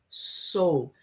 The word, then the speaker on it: sou: Well, eu, it's not o or eu, sou, it's a long O, sou. If you're not sure, imagine the word soul and remove the L.